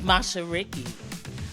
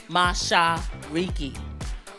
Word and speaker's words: Mashariki: My name is Mashariki, pronounced Mashariki, or Mashariki. Mashariki.